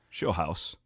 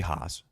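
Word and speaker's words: Scheelhaase: power through this Nate shei house I'm not sure how it's not pronounced hos but it's not shill house it should be hos great season at Iowa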